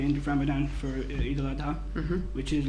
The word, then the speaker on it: al-Adha: Family get together by the end of Ramadan for Eid al-Adha, which is like Christmas here.